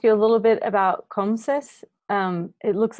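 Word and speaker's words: CoMSES: COMSIS, yeah.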